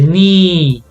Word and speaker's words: knee: silent st st also when you have a k and the n at the beginning of a word the case is gonna be silent so we say knee new knickers knife light we do not pronounce the k the k is silent